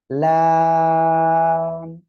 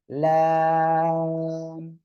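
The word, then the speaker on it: لام: এই লাম অক্ষরটা উচ্চারণ হবে কোন জায়গায় দেখেন, জিহ্বার আগার কিনারা, উপরে মারির দাঁতের গোড়ার সঙ্গে লাগিয়ে উচ্চারণ হবে লাম। চার আলিফ টান হবে কিন্তু, লাম।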